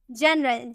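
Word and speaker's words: general: के बाद ई नहीं है, इसलिए गौ में प्रोनाउंस किए। लेकिन अगर हम बोले जनरल, क्या हम बोले, जनरल, जी के बाद आपको ई नजर आ रहा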